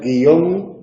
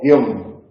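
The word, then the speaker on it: guion: Que podemos pronunciar guión o guión, ¿vale?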